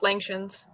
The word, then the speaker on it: Langshans: Moving on to also a breed can't pronounce, Langshans. Yep, that's correct. It's pronounced Langshans.